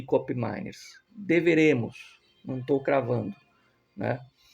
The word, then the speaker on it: Koopmeiners: Enfim, é essa a situação do Cop Miners. Cop Miners, Miners, né? Eu me informei a pronúncia certa.